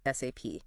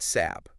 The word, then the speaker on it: SAP: It's not SAP. Forget saying it like a word. No, definitely not. You have to spell it out. SAP every time.